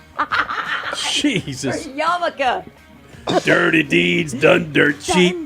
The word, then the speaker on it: Yarmulke: Yeah, that's like Yamulki. Jesus. Yarmulke.